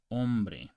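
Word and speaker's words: hombre: the I so okay the H is silent in Spanish okay so you don't pronounce this as in om you pronounce ombre and you don't pronounce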